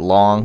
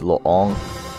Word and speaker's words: Loong: how you say it everybody calls it long because it's l-o-o-n-g but i think it's long is how you really pronounce it um i played